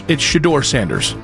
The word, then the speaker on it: Shedeur Sanders: It's Shedeur Sanders. Tell me how you really feel about RG3. For the love of God, it's Shedeur Sanders.